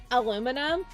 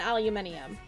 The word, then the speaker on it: aluminium: Look, look, both are technically correct. The American way is because someone freaked up and forgot the other eye. when they sent No, legit. This is this is why Americans say aluminum rather than aluminium because when they sent over the patent, somebody who was certifying the patent forgot the other eye and that is why we say aluminum instead of aluminium.